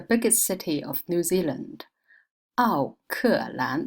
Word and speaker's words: 奥克兰: 中国的人口比新西兰多了。Now, the biggest city of New Zealand, 奥克兰. This is how Chinese people call Auckland, 奥克兰. So Auckland is pretty much pronunciation of Auckland, 奥克兰.